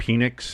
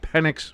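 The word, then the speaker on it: Penix: Now again on Wednesday's show I we were all making the puns about Phoenix and Phoenix energy and getting your big Phoenix in the dirt and somebody's grabbing your Phoenix.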